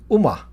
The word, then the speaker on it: Ooma: UMA is spelled OOMA, voice over IP.